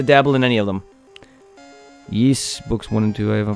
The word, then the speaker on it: Ys: tales of games I enjoy the geese it's pronounced yeess the ys series yeess i've been playing a bit of yeast so